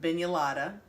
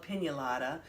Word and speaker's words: pignolata: We called it bignolata, but after doing some research, I think my grandmother was mispronouncing it all these years because it's actually called pignolata, or some people call it strafoli.